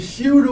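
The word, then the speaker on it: chute: we we kind of spell it differently in football you know like one of those things but we are c h u t shoot awareness okay okay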